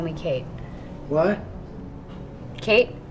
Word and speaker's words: Kate: Kate, short for Catherine, rhymes with plate.